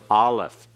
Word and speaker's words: Aleph: Aleph. And what kind of sound does it have? It's silent. It has no sound of its own. It is one of 2 silent letters in the Hebrew alphabet.